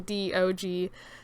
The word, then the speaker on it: DOG: It's just dog, but like put into like actually spelling it out without just putting DOG. So it is pronounced DOG.